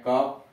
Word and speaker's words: cough: लेकिन बाद में जब रोमन प्रभाव हुआ तो रोम के प्रभाव की वजह से GH साइलेंट हो गया, अथवा सॉफ्ट उच्चारण GH का यफ हो गया। इसीलिए आप पढ़ते हैं कफ, एनफ, पूरा उच्चारण नहीं, सॉफ्ट कफ, एनफ।